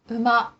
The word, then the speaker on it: 馬: In ordinary conversation, when the Japanese syllable U comes before ma, me, or mo, it is often pronounced as if it were the syllable M. 馬、 Horse, 梅、 plum, 埋もれ木、 fossil wood.